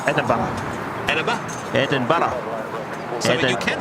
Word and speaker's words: Edinburgh: Yeah, but you've got to start off with Eden and then Borough and then combine them together and go Edinburgh.